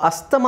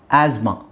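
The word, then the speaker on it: asthma: ಅಂತ ಹೇಳಿ ಕೇಳಿರ್ತೀರಾ right ಅಸ್ತಮ actually ಅದು ಅಸ್ತಮ ಅಲ್ಲ ಆಸ್ಮಾ ಆಸ್ಮಾ ಅಲ್ಲಿ ಟಿ ಎಚ್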